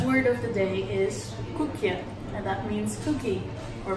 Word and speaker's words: koek: biscuit, then you say koekje. Or if it's a really big one, then it's a koek. A koek. You say it like that. Koek. You have to say it deep. That's just my accent.